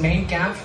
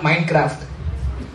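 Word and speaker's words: Mein Kampf: what he stands for main Camp it's not it's pronounced main Camp not maincraft and it meaning means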